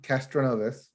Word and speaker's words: Castroneves: the indie 500 helio castroneves did i pronounce that wrong castroneves okay you got that right helio aka spiderman oh